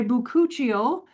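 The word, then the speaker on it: bakuchiol: Now, after my buuchial, um, which is spelled B A K U C H I O L.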